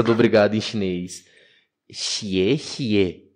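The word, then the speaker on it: 谢谢: X e e cuidado gente cuidado com a pronúncia do obrigado em chinês xie xie e oashi a toachi é japonês ah é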